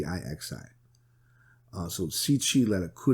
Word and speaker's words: Cixi: It's not spelled like it sounds. It's Cixi.